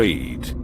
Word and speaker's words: eed: Back to the word married, where eed, from married, is Dutch that means oath, and is phonetically pronounced to sound like eat, because it is the moon gods that eat us.